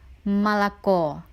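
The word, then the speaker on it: молоко: Hai ditulis molekul dan mempunyai tiga suku kata Moloco udaranya terletak di huruf ok2 suku kata terakhir huruf Odi suku kata pertama dan kedua yang tidak memiliki udara ini dibaca a1003 untuk kata ini pelafalannya adalah malako yang artinya susu Hai Nah sekarang kita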